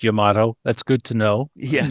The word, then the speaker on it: Yamato: And for the record, it is pronounced Yamato. That's good to know. Yes. Not Yamamoto?